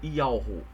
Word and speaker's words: YHWH: Essa pronúncia ela é feita como Ialro. Ialro. Ialro é o nome do pai.